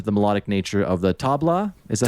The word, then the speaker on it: tabla: Yeah, you noted being drawn to the melodic nature of the tabla. Is that how you pronounce it?